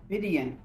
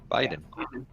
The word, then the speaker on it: Vidian: Obi, how do you pronounce that name? Vidian. Okay. Not Biden.